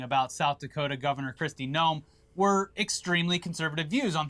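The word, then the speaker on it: Noem: she offensive I mean you can you can misspell it all you like it's gnome I'm just saying it's immigration and so on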